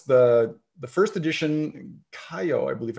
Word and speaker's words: Kaiyo: It's the first edition Kaiyo, I believe it's pronounced whiskey.